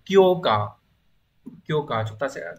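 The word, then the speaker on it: 強化: Từ đầu tiên đọc là kyo cờ.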